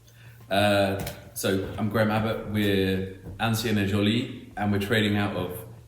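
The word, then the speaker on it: Ancien et Jolie: And I'm going to leave you for Graham to tell you his business, the right pronunciation, and where it is. Yeah. So I'm Graham Abbott. We're Ancien et Joly, and we're trading out of 70 de Beauvoir, which is in Haggerston in Hackney.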